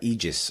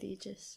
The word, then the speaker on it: Aegis: Very Room it is is it pronounced AIS uh egis I think egis yeah they usually go with egis um but yeah so